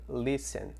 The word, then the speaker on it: listen: de pronúncia desse bloco perceba então que o Len o t não é pronunciado então a gente escreveria algo como isso aqui Listen Ok when All Get